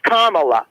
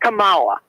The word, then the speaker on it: Kamala: is this uh Robin her name is Kamala it's not Kamala if the accent is on the first day Kamala it's like me calling you roben by putting the accent on the second but hold on I